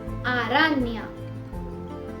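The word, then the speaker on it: araña: इसका मतलब ये एन नहीं एनए है और इसका प्रोनाउंसिएशन होता है न्य। जैसे इंग्लिश में अगर आप इसे देखेंगे तो एन और वाई साथ में, और हिंदी में देखेंगे तो आधा न और य, न्य। जैसे आरान्या, आरान्या और पीन्या, पीन्या।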